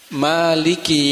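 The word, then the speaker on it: مالك: Setelah Ar-Rahman, Ar-Rahmanir Rahim, maka di ayat yang keempat ini adalah Maliki Yaumiddin. Maliki. Ma-nya dibaca panjang, mat tabi'i, 2 harokat.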